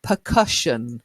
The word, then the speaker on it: percussion: word for you April percussion not cushion cushion is what you put on the city or on a chair okay cushion but percussion try it okay a